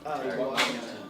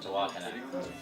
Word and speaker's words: Tehuacana: but you also, it's, how do you pronounce the town in Texas that you were recording in Tehuacana? Tehuacana. Tehuacana.